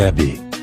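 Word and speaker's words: Abbey: L'histoire commence avec la déportation des Abéis, prononcée Abbé.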